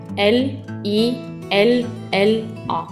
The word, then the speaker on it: lilla: in Norway we call this color lilla It is spelled l i l l a try it lilla This is the color pink